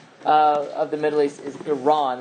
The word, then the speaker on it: Iran: next to it is Iran, and so they pronounce it Iran. Right? I believe the correct pronunciation in the context of the Middle East is Iran, like the Iran, not I.